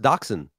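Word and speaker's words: dachshund: describe the purebred daxen dog but the name daxen likely came about as an alternative spelling to the original German name so are they just like pronounced the same way they are pronounced daxen all right I'm an idiot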